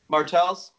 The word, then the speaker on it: Martels: Martels.